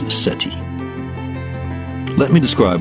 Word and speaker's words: SETI: This quest is called the Search for Extraterrestrial Intelligence, SETI, pronounced SETI.